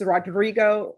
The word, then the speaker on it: Rodrigo: And roll your R. Court is calling 2026 CR 007634, State versus Rodrigo for the state.